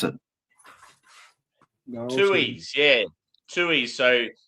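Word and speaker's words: Tooheys: I'm not sure how to pronounce it. Tuies.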